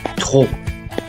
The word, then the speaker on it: trop: Ces deux mots-là s'écrivent galop, trop, mais se prononcent galop, trop.